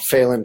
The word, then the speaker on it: Phelan: friends just did Kathy lives in a town that rhymes with Whalen called Phelan California that's how you say it Perry in Charleston another